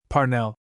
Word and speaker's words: Parnell: Parnell, she said with a strong accent on the first syllable, is the man of destiny.